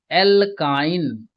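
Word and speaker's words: alkyne: तो प्यारे बच्चों, जब एल्केन, तो जब इसका उच्चारण करते हैं तो एन आता है अंतिम में, एल्किन, तो उच्चारण करते हैं तो इसमें इन आता है, एल्काइन, और जब इसका उच्चारण करते हैं तो आइन आता है, ठीक है।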